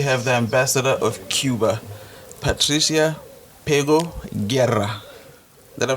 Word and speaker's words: Patricia Pego Guerra: And today we have the ambassador of Cuba, Patricia Pego Guerra. Did I pronounce it properly?